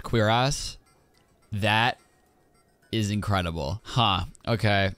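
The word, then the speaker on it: cuirass: all this stuff ancient please tell me that's pronounced queer ass I'm sure it's not but if it's pronounced queer ass I will be so pumped it actually is it's a queer ass that is incredible huh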